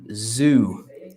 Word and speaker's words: zoo: where you cancel is Zoo okay pay attention to the pronunciation because I know in Italian and it's the same word but it's not though but zoo so soft zu k assume very